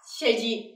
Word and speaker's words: 成人: Mình sẽ có cách đọc là 成人ですね。成人 ở đây là người lớn hoặc là